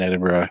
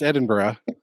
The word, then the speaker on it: Edinburgh: then he taught me how to pronounce Edinburgh and he says you need to say it like bread and butter that's good that's